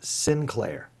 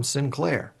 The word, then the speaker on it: Sinclair: it's and and the proper pronouncing a pronunciation of my name is Sinclair so I would say my name is synclair so everybody called me oh mr Clare yeah come over here no no no it was so i had to mispronounce my last names so that it would get understood so it's Sinclair